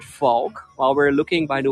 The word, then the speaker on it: Valk: two parts the first part is Valk and the Dutch word folk while we're looking by